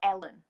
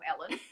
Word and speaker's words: Helen: if your name was Helen or Ellen, because I didn't pronounce the H because in Yorkshire we don't pronounce the H, so everyone would call me Ellen. I called myself Ellen, but it was with an H.